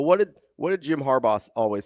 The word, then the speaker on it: Harbaugh: I say Harba. Oh no. Harbaugh. Like the gummy.